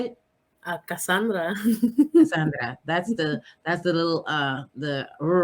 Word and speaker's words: Kassanndra: Cassandra.